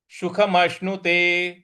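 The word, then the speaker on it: सुखमश्नुते: है तो अत्यंतम अत्यंतम सुखमष्णुते सुख मष्णुते सुख मष्णुते स छोटा वाला है स बोलेंगे सुख म जो बड़ा वाला श है उसका श बोलेंगे तो मनुते मष्णुते इस प्रकार से बोलेंगे तो सुखेन ब्रह्म संस्पर्शम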